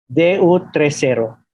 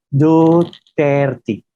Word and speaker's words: Duterte: El hemisferio español de mi cerebro, cuando lo vi, lo pronuncié Du30, que no significa nada. Más tarde me dijeron, no, es Duterte.